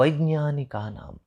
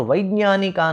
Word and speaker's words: वैज्ञानिक: इयं ज्ञानी नाम, यह ज्ञानी लोगों की, और वैज्ञानिका नाम च, आप इसे ये वैज्ञानिक कहते हैं, वास्तव में इसका शुद्ध उच्चारण जो है वह ज्ञ की तरह है।